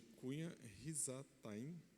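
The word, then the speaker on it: Cusã-Risataim: Por isso o Senhor ficou muito irado com Israel e deixou de Cunha Risataim, é assim que pronuncia, rei da Mesopotâmia, os conquistasse.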